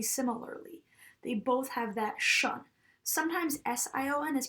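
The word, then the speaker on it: -tion: the ending T-I-O-N, and it's actually pronounced, even though there's a T in it, it's pronounced shun. So some examples of this would be mo shun, po shun, solu shun. Even though we see that T, if it's followed by I-O-N, we are not going to pronounce it like a T. We're going to pronounce it like a sh.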